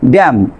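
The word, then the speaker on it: damn: তারপর খেয়াল করেন আপনার সাইলেন্ট লেটার এন এম এর পরে এন থাকলে, এম এর পরে এন থাকলে আপনার কি করবেন, আপনি এই এন লেটারটি সাইলেন্ট রাখবেন। কিভাবে পড়বেন, ড্যাম, ওটাম, খলাম, এখানে এম এর পরে এন আছে।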